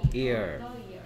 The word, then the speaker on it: year: 이거 반자음이에요. 반자음 됐습니까? of the year입니다. year니까 e니까 e 소리 나니까 이거 모음 아니 뭐야 모음 아니냐 하면 안 되는데 이 반자음이 들어 있습니다. year 이런 뭐 이상한 발음이에요.